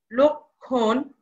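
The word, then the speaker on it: লক্ষ্মণ: এর উচ্চারণ হচ্ছে না লক্ষণ এখানে ম এর উচ্চারণ হচ্ছে না হবে না অর্থাৎ যুক্ত ব্যঞ্জন বর্ণের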